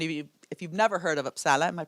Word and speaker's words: Uppsala: And if you've never heard of Uppsala, am I pronouncing it right?